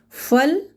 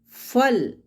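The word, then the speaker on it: फल: Phal. Phal. Phal means fruit.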